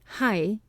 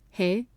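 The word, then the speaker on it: はい: In all places lately, hai, yes, has been pronounced he, chi, na, ne, to Ito's great contempt.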